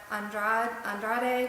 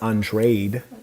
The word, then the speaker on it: Andrade: Yeah, I think his name is actually pronounced Andrade. Even though if he was Italian, I guess it'd be Andrade, right? Or if he was Caucasian. But anyways, I got Benavidez.